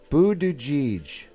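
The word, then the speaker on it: Buttigieg: but no one's talking what are you saying pronounced Buddha jij oh oh I thought you were like speaking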